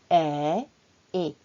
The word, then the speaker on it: est: Attention, n'oubliez pas que est et sont différents. Est se prononce comme est, on ouvre la bouche. Est.